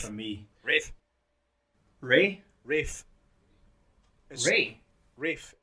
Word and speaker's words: Ralph: Rafe. For me. Rafe. Ray? Rafe. Ray? Rafe. It sounds like R-A-F-E. Rafe.